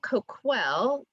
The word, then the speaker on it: Coquille: So, and then just a note, Coquille is the town that we know, but Coquille, think of, there's a KW in the middle, is how you actually pronounce the tribe.